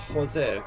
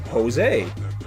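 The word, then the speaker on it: José: For me, it's always Jose.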